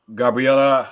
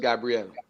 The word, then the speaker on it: Gabrielle: question here from um Gabriella uhuh and her was which no no Ella No Ella just Gabrielle Gabrielle I apologize for